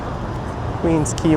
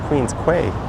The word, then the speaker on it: Queens Quay: As I cross Queens Quay West. And I'm surprised I say it correctly, because I always read it in my mind as Queens Quay.